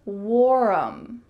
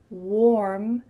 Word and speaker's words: warm: did I mispronounce mm-hmm did you hear warm or Wharram you heard that second one but that's not correct instead the word warm has just one syllable not warm instead warm warm notice how my lips